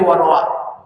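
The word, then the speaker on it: رواه: Warawa ini dibacanya bukan ruwya, tapi warah.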